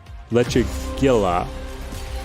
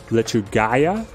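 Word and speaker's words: Lechuguilla: it we'll run it hell is pronounced as y okay so it's lechugaya hang on so I'm looking at this as an American and I say leche Gila as I'm reading this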